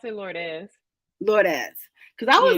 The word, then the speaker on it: Lourdes: I pronounce it Lourdes. Lourdes.